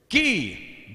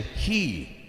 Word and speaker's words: ghee: roadkill i said beilut ghee ghee is a common ingredient in indian cooking what is ghee or some might say he the g is silent what is he not he what is